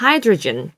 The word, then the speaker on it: hydrogen: hydrogen. 이거 발음하실 때 주의하실 게 하이드로겐이라고 하시는 분이 꼭 있어요. 네, 여기 영어에서는 겐이 아니라 G 발음이에요. 그래서 윗입술 올라가야 돼요.